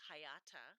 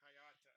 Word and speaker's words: Hayata: So the character, his name is Hayata, Hayata. and he is part of the space patrol that is there to protect Japan from monsters that attack. And I forget the story completely of how Hayata becomes Ultraman, but he's not always Ultraman.